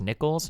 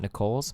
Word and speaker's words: Nichols: It's pronounced Nichols, not Nicole's.